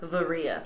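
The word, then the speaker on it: Varya: It's spelled like Vyra, but it's pronounced Varia.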